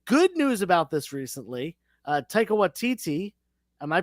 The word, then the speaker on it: Taika Waititi: Taika Waititi, am I pronouncing his name wrong?